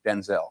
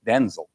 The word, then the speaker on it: Denzel: My name's not pronounced Denzel. My name's pronounced Denzel.